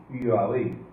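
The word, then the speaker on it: YHWH: verdad y es esto el tetragrama Sagrado en hebreo ihh bh se pronuncia propiamente yabi y yabi no es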